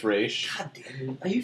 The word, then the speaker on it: Ra's al Ghul: How do you say Ra's al Ghul again? Raish. Denny O'Neil said it's Raish.